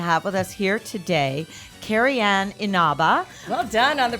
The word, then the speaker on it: Carrie Ann Inaba: And we are so excited to have with us here today Carrie Ann Inaba. Well done on the pronunciation.